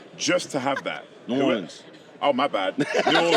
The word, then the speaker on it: New Orleans: had that you need to fly directly to New Orleans just to have that New Orleans oh my bad New Orleans I'm going get